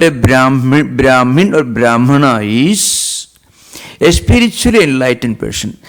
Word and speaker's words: Brahmana: A Brahmin or a Brahmana, as the Sanskrit word is properly pronounced, means a spiritually enlightened person.